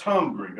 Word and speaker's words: Hungary: of hungary elizabeth of hungary now that's how you say it it's spelt hungary but it's hungry i looked it up my